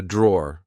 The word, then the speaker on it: drawer: Uh, this is a drawer. Like I said, um, be careful because in British English we don't pronounce the e at the end.